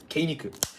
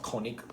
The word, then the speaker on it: Kenig: So in the ruling for Wirbel Dragon Kenig, yes, because that's how you pronounce it, Kenig, not König or König.